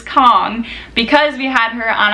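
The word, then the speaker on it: Khong: by Rachel Marie Kong her last name is spelled k-a-n-g but I know for a fact that it is Kong because we had her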